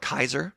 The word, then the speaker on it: Caesar: Now, the other side of the trade, back to the Fallout set, we have Caesar, Legion's Emperor, or as they pronounce in the video game, Kaiser.